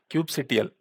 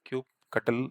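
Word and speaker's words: kubectl: into the autopilot cluster Cube CTL so Cube CTL is the main CLI Cube cutle somebody says different pronunciation so Cube control also we can say is the main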